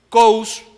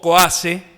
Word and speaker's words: Coase: No es casualidad que Coase, o Coase, como lo quieran pronunciar, haya ganado el premio